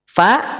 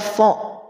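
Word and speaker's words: فَ: Fa berarti tidak fo. Ya, tidak fo. Fo man tawalla. Tidak demikian. Fa. Lihat. Cara pengucapannya fa, tidak fo, tapi fa ditarik. Nah kita rendahkan kemudian tarik. Fa. Kalau sedang kasroh, fi ditarik yang kasroh. Kalau fa tetap pada rahang tipis, tidak pada rahang tebal, tidak fo tapi fa.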